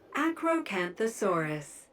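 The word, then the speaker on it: Acrocanthosaurus: Acroanthossaurus. That is how you pronounce it.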